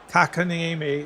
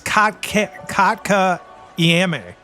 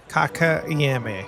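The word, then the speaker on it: Kotkaniemi: Gets past Kakaniemi into the zone. Penalty coming to Detroit. Either way, I said it wrong like 4 times. I just double checked the pronunciation. It's Kotka Iame. Kotka Iame. Kotka Iame.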